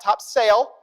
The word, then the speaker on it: Topsail: Any of you guys go to Topsail Island in the summer? That's your beach of choice, yeah? Right? It's not Topsail, okay? It's Topsail. That's how they say it down south, okay?